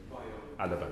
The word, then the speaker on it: Bayo Alaba: Did I pronounce that correctly? Bayo Alaba, Madam Chair.